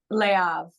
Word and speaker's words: Le Havre: So I was like, don't say the R-E. Just I know. I know. But then I always go Le Havre and then I go Le Havre.